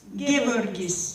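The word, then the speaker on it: Geevarghese: Gevorgis, yes.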